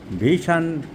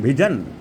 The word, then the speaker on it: vision: আমি চলে গেলাম ভিশন লস অফ ভিশন। আমরা বলি লস অফ ভিশন অ্যাকচুয়াল ইংরেজি উচ্চারণ ভিজন।